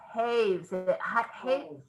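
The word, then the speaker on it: Hawes: called fashion is spinach it is by elizabeth hayes my husband is correcting me how to pronounce it and her last name is spells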